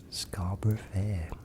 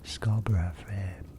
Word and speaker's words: Scarborough Fair: Scarborough Fair, or Scarborough Fair, as it is pronounced by some people in the world. What we would say is Scarborough Fair.